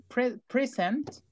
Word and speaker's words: present: Si yo digo present, Estoy diciendo presente, por ejemplo, el tiempo. Okay, simple present. Ahí la sílaba tónica es present. Simple present, presente simple. In the present time, en el tiempo presente, in the present time. Y si yo pongo el acento en la segunda, present es regalo, es presente de regalo. Let me give you a present.